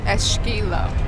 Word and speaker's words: esquilo: Muitas pessoas pronunciaram esqui, mas em Portugal dizemos esqui. Isto porque na maioria das palavras que começam com E, S consoante, o E desaparece e o S faz o som sh. Ou seja, ESQ fica sk, quanto ao Q, o I. Em português esta combinação lê-se quase sempre qui e não qui.